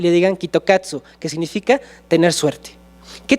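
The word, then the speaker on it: キットカット: Y pues ellos no sabían, no tenían idea, hasta que se dieron cuenta que en Japón, cuando leían Kit Kat, pues no lo podían leer como nosotros, lo pronunciaban Kitokatsu.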